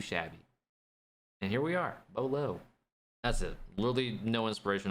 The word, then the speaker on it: Beaulo: Beaulo was literally just me liking the spelling and the pronunciation of Beau.